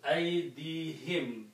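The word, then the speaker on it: أَيْدِيهِمْ: To make easy on the tongue, we also pronounce this as him, not hum.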